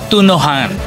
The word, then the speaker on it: Tune-ohan: Ang ang pronunciation sa is tunohan.